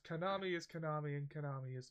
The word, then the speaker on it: Konami: by something that that rhymes with o army yes Konami is Konami and Konami